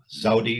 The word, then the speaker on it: Zewde: Her name is Sarah Zawde. It's spelled Zewde, a Harvard Graduate School of Design trained landscape architect who was African-American with her own practice in Harlem.